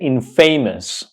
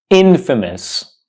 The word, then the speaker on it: infamous: you see this word do not pronounce this word incorrectly by pronouncing it INF famous I know it's a combination of in and famous but it's not pronounced INF famous it's pronounced Infamous Infamous Infamous so the next time